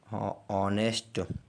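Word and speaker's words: honest: यदि किसी वर्ड में यच के बाद ओ हो तो यच साइलेंट हो जाता है।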